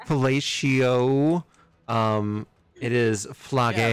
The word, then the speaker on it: Phlage: Flage. P. Fellatio. It is Yeah, Flage. rhymes with Horatio.